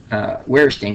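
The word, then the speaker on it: Verstehen: Wehrstehen. So yeah, here's the interesting thing about Germans and the pronunciations of W's and V's. It's backwards, and I only learned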